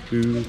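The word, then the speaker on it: Bouillouses: Boulia, Boulouis, you know? How do you pronounce that? Boulouis.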